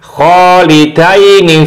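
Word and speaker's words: خَالِدَيْنِ: Jadi bacanya kholidaini fiha.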